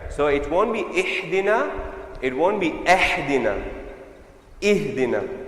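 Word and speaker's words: اهدنا: Ihdina. Now that downward pronunciation is for this. So there are 2 things here. Firstly, this is a kasra and this is a ha. Remember, this is ha for the letter H, right?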